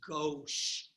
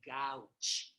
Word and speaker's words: gauche: means to the left right and the proper pronunciation is gauche please don't say gautsche especially not when I'm around okay so substituent